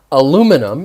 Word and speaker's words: aluminum: that same lesson i talked about um aluminum in the u.s and aluminium in the rest of the world pretty much english-speaking world